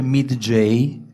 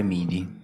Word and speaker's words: MIDJ: c'è un problema che qualcuno dice midj Sì ma noi abbiamo deciso di pronunciare Mini ma sarebbe midj come fai adesso Esatto logico